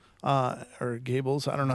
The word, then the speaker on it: Goebbels: in quotes, came from Minister of Propaganda Joseph Goebbels, or Gables, I don't know how you pronounce that. Goebel, okay.